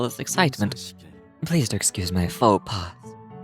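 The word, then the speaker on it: faux pas: Note the s is silent.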